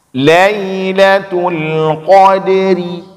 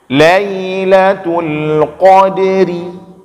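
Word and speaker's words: ليلة القدر: tetap ada Qalqalah kode dan huruf ra disini huruf kasrah maka huruf road dalam keadaan katsrah hukumnya dibaca di tipis Lailatul Qadri khodiri nyambet subaca odery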